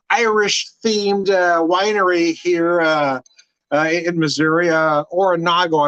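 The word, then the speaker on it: Oronogo: Oronago, I believe, is how you pronounce the town.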